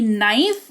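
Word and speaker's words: knife: तो के कब साइलेंट होगा? किसी शब्द की शुरुआत के से होगी। उसके जस्ट बाद एन आ जाएगा। तो वहां पर के साइलेंट होगा। जैसे कि नाइफ। इसको के अगर यहां नहीं भी हो तो भी आप इसको नाइफ ही पढ़ोगे तो आप उसको वैसे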